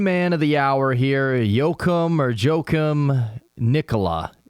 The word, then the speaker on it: Joachim: of the hour here Yokum or jum Nicola it's it's spelled j o a c h i m it's uh yoim yo that's sweet there we